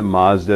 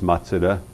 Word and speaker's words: Mazda: Do you know that Mazda is actually pronounced Matsuda? Matsuda. Makes sense, right? Because there's no, in Japanese, there's not Mazda. There's no like consonant sound, right? Matsuda.